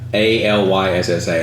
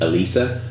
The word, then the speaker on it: Alyssa: Their name is spelled Alyssa. Alyssa. And they're like, sorry, it's Elisa.